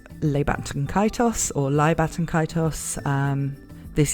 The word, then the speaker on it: Ley: I'm a web novel reader, and quite often the translators there spelled it Ley, L-E-Y, and so I tend to pronounce it that way, but that might just be me being wrong rather than CBR.